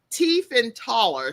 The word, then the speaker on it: Tiefenthaler: And so Abigail, and you can see how her name is spelled, but it's Tiefenthaler.